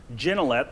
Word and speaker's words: Gignilliat: Gignilliat, it's a French pronunciation. It's completely mispronounced all the time.